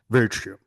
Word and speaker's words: virtue: The only word that I misheard or someone pronounced it not that correctly, virtue. It's pronounced virtue.